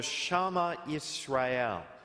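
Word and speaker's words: Shema Yisrael: I'm trying to pronounce that correctly because somebody corrected me. It was called the Shema Israel, and it was the centerpiece of Jewish prayer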